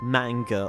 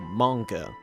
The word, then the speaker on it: manga: Spoiler alert, both are correct, because in Japanese it's transcribed with a, which is a vowel that doesn't exist in the English phonemic inventory outside of